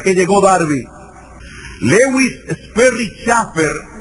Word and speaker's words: Chafer: Lewis Sperry Chafer, o Schaeffer, como se debe pronunciar en inglés, que es uno de